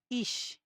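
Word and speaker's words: ich: যেমন ইশ এটা হচ্ছে আমার ই। এই যে প্রথমে এই ই টা এরপর সেহা বসে এজন্য হচ্ছে এটার উচ্চারণটা ইশ হইছে।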